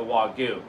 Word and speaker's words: wagyu: linked in the past that does the the wagyu so we pretty much have it is pronounced wagyu by the way because all you